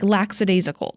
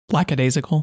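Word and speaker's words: lackadaisical: idea how it was spelled and I always pronounced like laxidasical that's how I typically had pronounced it laxidasical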